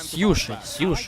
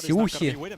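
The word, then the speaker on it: Siuhy: Сьюши, все. А то я постоянно читаю как Сюхи, все.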